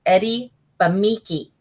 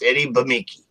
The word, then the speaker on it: Eddie Bemeke: I kept screwing it up, but I finally learned how to say it properly. It's Eddie Bemeke. Bemeke. So remember that, guys. It's Eddie Bemeke.